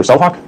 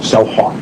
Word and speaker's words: CellHawk: You said you're going to use the term CellHawk. That's brand name. That's correct, yes. Spell that out for us, please. It sounds just the way it sounds. Yep, CELLHAWK. All right, thank you.